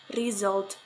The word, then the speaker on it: result: Errors often occur by replacing these sounds with sound sa. For example, in the word result, but it is pronounced result. That is wrong. The correct one is result.